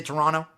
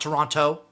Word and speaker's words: Toronto: Don't pronounce the second T in Toronto. You like to say Toronto? Is that how I should pronounce it? Not Toronto. I like to say Toronto because I'm a foot guy.